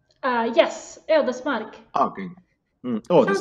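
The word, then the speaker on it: Ödesmark: It's the correct pronunciation, other smack. Yes, Eldesmark.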